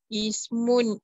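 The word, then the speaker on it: اسم: The words ismun and ibnun commence with hamza tul wasal when preceded by a word, the initial I is dropped initial in the pronunciation. Kasra, the word by a word, the initial kasra is dropped in pronunciation.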